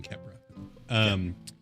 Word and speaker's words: Khepra: Just missing the H. The silent H got me on Kepra.